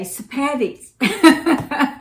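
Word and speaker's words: Sepetys: her name is Ruda sapedis and she says the way to know how to say her last name is to think of spaghetti and you say sapatics so I've been saying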